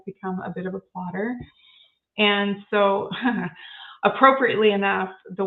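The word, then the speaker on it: Plottr: notes but it's um spelled like plotter without the e before the r at the end so p-l-o-t-t-r and I'm a very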